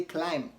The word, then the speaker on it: climb: say bomb rather boom don't say client climb say climb climb don't say comp say